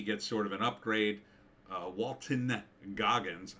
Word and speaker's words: Walton: Walton Goggins, I always say his name wrong. I always want to call him Walter.